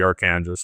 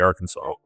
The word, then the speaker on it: Arkansas: and by the way that's how it's pronounced in Colorado it's the aranas not the Arkansas but once it crosses